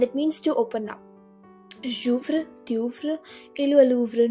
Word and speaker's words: j'ouvre: apostrophe in a pronoun, you do not pronounce it as je ouvre. You don't still pronounce the e in that. You join the pronunciation of the pronoun and the conjugated verb. So it's gonna be like j'ouvre, because we have 2